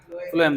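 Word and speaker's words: phloem: अब फ्लोएम देखो फ्लोएम का स्पेलिंग जो होता है ना ऐसे तुम समझ लो। ब्राउन से एफ। एफ से फ्लोएम। यहां पीएच लिखा हुआ है। इग्नोर करो।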